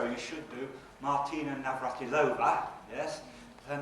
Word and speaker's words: Navratilova: We all know the tennis player, or you should do, Martina Navratilova. Yes? Her name is not pronounced like that at all. It's Navratilova. Okay? With a stress on the first syllable.